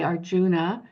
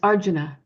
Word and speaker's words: Arjuna: have those sounds and so we might say Arjuna but it's Arjuna and so he puts the syllable on the correct um syllable and you